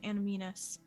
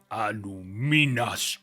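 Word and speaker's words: Annúminas: it was frozen to Animinus. If you could answer us anything you know about that, we'll get out of your hair. And he will say, Anuminas. Pronounce it correctly or get the hair out of my face.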